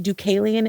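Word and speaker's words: Deucalion: So, the man Ducalian, the name I looked it up. Let me find Let me find my notes. My notes. Um, in Greek mythology, Ducalian is the son of Prometheus and Climiny.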